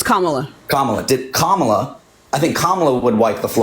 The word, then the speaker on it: Kamala: Did I pronounce that right? It's Kamala.